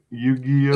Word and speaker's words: Yu-Gi-Oh!: By the way, am I pronouncing that right? Yu-Gi-Oh?